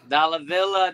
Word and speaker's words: Dalla Villa: your name pronounced because I wanted it so badly to rhyme with dollar bill uh and it did and I was very happy that's right man dollar Villa dollar bills oh welcome